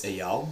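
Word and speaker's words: Eyal: It's Ayal. It's spelled E Y A L.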